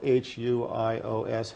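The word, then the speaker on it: υἱός: The other word that you find in the New Testament most commonly that is translated to Son is spelled H-U-I-O-S, huios.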